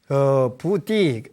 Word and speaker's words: 보리: 잡을 제자인데, 불교에서 오랫동안 리라고 읽어갖고 보리 그러는 거예요, 보리. 예. 이제 원래는 띠라고 읽는데, 그러니까 중국말로 표현하면, 부띠, 맞는데, 이제 우리나라 와서는 보리, 이렇게, 번뇌즉 보리다.